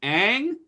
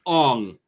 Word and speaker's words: Aang: The main character's name is Aang. Throughout the whole movie, it's Ong.